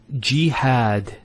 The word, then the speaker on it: jihad: Next word is jihad. So we have here G, that's the first syllable, and then had, jihad. So you notice here we